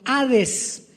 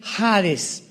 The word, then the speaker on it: Hades: la palabra Seol con Hades con h que muchos dicen jares se puede pronunciar así porque es en el griego y Cristo cuando él